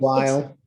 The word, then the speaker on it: Weil: I think Okay, it's Weil. Okay. W-E-I-L. E-I in German would be pronounced as a long I sound. Weil. Okay, I didn't know if the W became a V sound or not, but whatever.